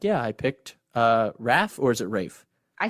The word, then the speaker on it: Rafe: And he's like, yeah, I picked Raph, or is it Rafe? I said Rafe.